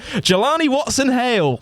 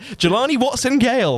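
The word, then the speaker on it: Jelani Watson-Gale: Jelani Watson Hale. No, I said that wrong. I said it wrong. He's butchering them. I butchered it. Jelani Watson Gale, making it Hale.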